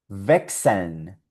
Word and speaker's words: wechseln: Y aquí tenemos otra palabrita en alemán con la combinación CHS y esto suena wechseln.